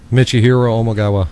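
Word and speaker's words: Michihiro Omigawa: I want to hear you pronounce this other guy's name. Go ahead. Michihiro Omagawa.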